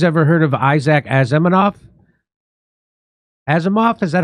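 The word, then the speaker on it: Asimov: Azimoff. Is that how you say it? Azimov.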